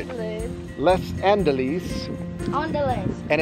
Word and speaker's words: Les Andelys: Wait, wouldn't it be pronounced just like Les Mis, Les Andelys?